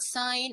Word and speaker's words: sign: for example let's say the word sign and signature now we tell them here you don't pronounce the g but in signature you